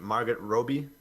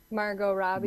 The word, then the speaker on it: Margot Robbie: So I think I don't know how to pronounce her name. Is it Margaret Robbie? Margot Robbie.